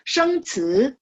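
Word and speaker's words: 生词: Sheng ci, ingat ci bacanya ci ya.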